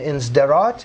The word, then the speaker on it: Sderot: But since they gave up Gaza in Sderot, is that the way you pronounce that city? Yes, Sderot.